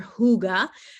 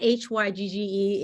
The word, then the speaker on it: hygge: your hygge so that hygge is pronounced yes now there's kind of a guttle h in um for that particular word but if you think of it as h-o-o-g-a you'll be right on target okay deep relief again